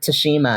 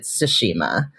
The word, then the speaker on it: Tsushima: not even started so i've noticed that the npcs in toshima some of them pronounce it tashima and some of them pronounce it tsushima yeah and i've even heard like more of a sushima sushima yes that too and i'm like